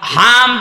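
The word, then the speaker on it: حمد: না হয়নি আগেরটা হয়েছে কেন হামদ শব্দটা ভেতর থেকে উচ্চারণ করা লাগে কারণ হামদ আর হামদ ছোট হার বড় হাদিরে আকাশ পাতাল হয়ে যাচ্ছে হামদ মানে প্রশংসা আর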